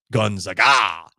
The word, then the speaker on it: Gonzaga: which you're saying yeah I didn't always pronounce Gonzaga the right way Gonzaga it does seem like it would be Guna it does I'm trying